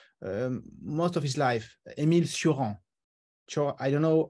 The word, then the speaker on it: Cioran: lived in France most of his life, Émile Cioran.